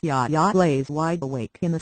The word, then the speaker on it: JiaJia: As the Wilsons travel from their home in the American Midwest to northern China, JiaJia, pronounced Jah Jah, lays wide awake in the small room he shares with 8 other orphans.